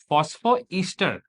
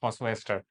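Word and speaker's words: phosphoester: फास्फोईस्टर नॉट डाईस्टर but Easter. फास्फोईस्टर some people pronounce it एज़ फास्फोस्टर।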